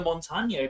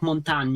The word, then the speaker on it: Montagne: I think because it's French. It's like the E is more like it's more like montagne. It's like more montagne.